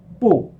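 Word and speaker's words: 不: tongue for cool changes changes depending on the tone of the character that follows it okay you got a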